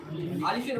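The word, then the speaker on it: ألف: পড়েন আমার সঙ্গে বলেন আলিফ আলিফ আলিফ আলিফ আলিফের উচ্চারণটা আপনাকে ভিতর থেকে বাটা হাওয়াটাকে বাইরের দিকে প্রবেশ করতে বাইরের দিকে বের করতে হবে বলেন আলিফ আলিফ আলিফ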